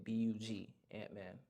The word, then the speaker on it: B.U.G Antman: So, correct way to say it is B.U.G Antman. Not Bug Antman, not Bug, none of that. It's B.U.G.